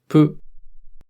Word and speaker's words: ぷ: Fu with a handakuten is pronounced pu.